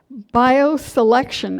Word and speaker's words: BioCellection: She has a new company called BioSelection, and it's spelled BioCellEcTion, selection, like cell.